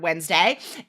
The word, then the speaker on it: Wednesday: guys write the word wednesday in your head say wednesday right w-e-d-n that makes no sense we don't say it like that right if you